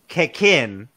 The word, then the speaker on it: Cekin: and it is a japanese craft beer it's pronounced kekin it's a yeah it's just a jab it's